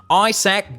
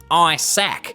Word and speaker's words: Isaac: than the edgy comedian isaac butterfield in america we would pronounce his name isaac but in australia it's pronounced i sack like a sack of eyes my name's isaac butterfield